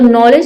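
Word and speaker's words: knowledge: तो नॉलेज में देखिए यहां पे एरर के डी के बाद क्या है? जी ई आया। है तो हम यहां पे डी को नहीं पढ़ते हैं।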